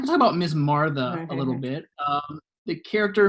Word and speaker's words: Martha: It's actually pronounced Martha, Miss Martha.